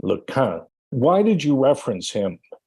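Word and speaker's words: LeCun: He corrected my pronunciation of his name, Lequin.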